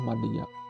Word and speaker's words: madya: Kalau dalam bahasa Sunda mah maja pad ditulis M A D J kan gitu madia ya itu ejaan dulu mungkin ya ejaan yang belum disempurnakan dibacanya maja padahal mah madya.